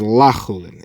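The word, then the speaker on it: לחולין: and the Brisa, and you actually have to pronounce the word differently. Our Mishnah is meant to be read as lachulin, and therefore it's saying that it's not chulin, that which I'll eat from you.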